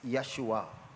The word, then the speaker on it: Yeshua: It's Yeshua.